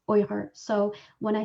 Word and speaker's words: Uyghur: lot and in the uyghur language uighur is pronounced oyher so when i say or i mean weakers